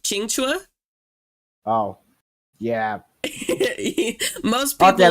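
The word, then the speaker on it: Qingque: simplify it um but her name I believe is pronounced chinga oh yeah most people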